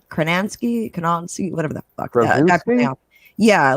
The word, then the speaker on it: Krasinski: John, I can't pronounce his last name. Kranansky, whatever the fuck. Krasinski?